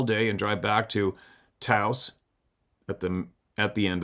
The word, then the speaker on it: Taos: I wonder how is that pronounced? Teaos. Taos.